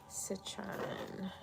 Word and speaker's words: citron: My citron. Got my citron. Citron. Yeah, that's how you pronounce it.